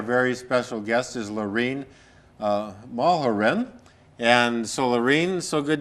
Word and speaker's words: Mulherin: Our very special guest is Lorrenne Mulherin.